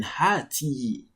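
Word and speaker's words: هاتي: Even in pronunciation, it doesn't really count. You don't really, because of the ya is like silent in pronunciation, but in writing, you have to write at the ya to signify that you are speaking to a female.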